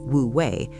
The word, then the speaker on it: Wu Wei: It is called Wu Wei, pronounced Wu Wei, which translates to the art of effortless action or action without forcing.